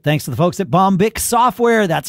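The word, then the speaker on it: Bombich: of the sponsorship thanks to the folks at bomic software that's how it's pronounced b o m b i h bomic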